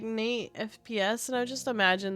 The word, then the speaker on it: NXTE: like, when you say NXTE, I'd be like Nixty. But that's just how I would call you. Nixty or... Yeah, Nixty is pretty much what I would call you. Your name It's pronounced as Nate.